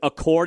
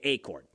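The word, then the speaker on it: Achord: I have heard Accord. It's a C H O R D.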